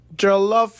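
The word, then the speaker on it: jollof: have to have our punishment drink joloff rice joloff rice you pronounced it well let's review this galof rice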